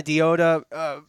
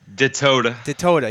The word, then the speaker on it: Ditota: And right now, Diota, is that how you say your name? I probably butchered that too. Ditota, yeah.